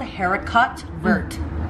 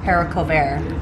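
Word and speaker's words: haricot vert: called i don't know it's called haircut vert hera caught burt but it's pronounced heracle bear oh okay fancy haircut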